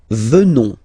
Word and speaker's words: venons: Nous venons, okay, O-N-S, classical ending for nous, okay, final S not pronounced, so O-N, on, venons, venons, nous venons, nous venons, okay, and